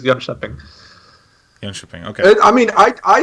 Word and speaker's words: Jönköping: Is it Jönköping? Jönköping. Jönköping? What? Say it again. Jönköping. Jönköping. Yeah. Okay. So the K is like a sh sound.